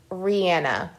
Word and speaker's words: Rihanna: pretending like I'm Rihanna No I want to pronounce her name correctly it's Rihanna yes so I want to hear you guys